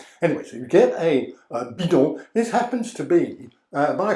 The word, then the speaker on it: bidon: or other European languages, it's known as a bidon. A bidon. You might want to write that down. You can Google translate it if you didn't quite understand my pronunciation, but it's B-I-D-O-N, that's bidon.